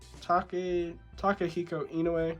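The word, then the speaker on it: Takehiko Inoue: We got Vagabond, you know, what's this, Takahiko Inoue, that's how you pronounce it.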